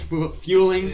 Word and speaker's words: Fueling: Just fueling, like fueling your car.